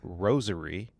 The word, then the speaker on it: rosary: I noticed you just pronounced that word rosaries with a zh. Yes. There are like two kinds of Catholics I've discovered. You either say rosary, like the flower rose.